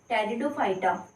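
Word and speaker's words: Pteridophyta: Second है ब्रायोफाइटा, third है टेरिडोफाइटा, ये पी बच्चों साइलेंट रहता है।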